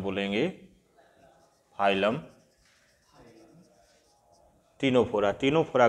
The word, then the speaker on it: Ctenophora: टीनोफोरा की spelling है CTENO, CTENOPHORA, संघ टीनोफोरा।